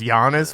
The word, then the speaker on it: Giannis: it's and it's pronounced Giannis what the is up with that Real G's he's big he's big too yeah is that technically a silent G I would think so